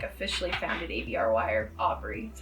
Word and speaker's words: ABRY: is when I like officially founded ABRY, or ABRY, that's how you pronounce it.